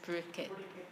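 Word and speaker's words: Parikshit: She's real Bengali, so she says Purikit. Yeah. And I was thinking of how to say it. Yeah, that's the Bengali way.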